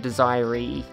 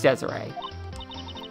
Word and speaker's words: Desiree: I had no idea I would have said desirey its Desiree oh you must be